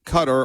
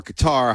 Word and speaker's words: Qatar: And by the way, this is in Qatar or Qatar, however you want to pronounce it.